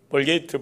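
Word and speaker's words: Vulgate: 이렇게 제롬에 의해서 라틴어로 번역된 성경을 불가타 성경이라는데, 영어식 그 발음으로 벌게이트 버전이라, 벌게이트역이라 그렇게 우리는 알고 있습니다.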